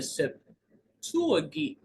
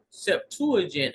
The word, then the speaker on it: Septuagint: is rendered by Simeon in the septuagi I'm sorry Septuagint I guess that's how you would pronounce that the term for sign